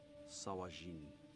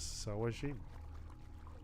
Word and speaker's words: Sahuagin: so it is pronounced Sahuagin or whatever. Sawajin. He calls it Sawajin. I don't know, it just sounds wrong.